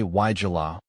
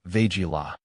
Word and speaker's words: Weigela: But honestly, no matter if you say Weigela or Weigela, as long as the person you're talking to knows what beautiful flowering shrub you're referring to, that's all that matters.